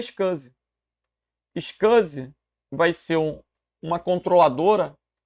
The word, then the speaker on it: SCSI: A sigla é SCSI, mas ninguém vai falar SCSI. Fala-se SCSI.